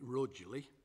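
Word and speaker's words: Rugeley: deville goes with that i think people in who live in rougely tend to call it rudely so not living again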